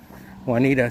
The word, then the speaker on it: Juanita: Janice Wanita says the J is silent. probably um because it's more of a Spanish name, I believe, rather than an English name.